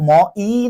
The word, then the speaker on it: মই: ঠিক আছে, যেমন জাহাঙ্গীরনগর ইউনিভার্সিটিতে একটা প্রশ্ন এসেছিল, মই শব্দটির হ্রস্বইকার কোন স্বর। দেখো এটা কিন্তু ম ই না, এটা হচ্ছে মই, অর্ধেক স্বর।